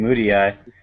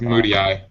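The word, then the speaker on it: Mudiay: I just found out apparently that you pronounce his name Moody Eye. Moody. Yeah, it's Moody Eye.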